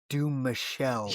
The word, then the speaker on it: Dumouchelle: Yo, did I mispronounce his name in the beginning? Dumouchelle.